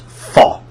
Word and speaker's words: fa: And if you didn't know, so this is pronounced fa.